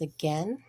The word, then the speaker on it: again: And this word is again, and we do not hear the I sounds.